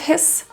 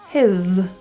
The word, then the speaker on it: his: the Zed sound so this s is pronounced as a voice Z instead of his his bye this has two